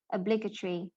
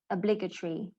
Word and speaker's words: obligatory: adjective also we have second syllable stress but the pronunciation will no longer be like the one here i it's actually e so obligatory e obligatory i'm going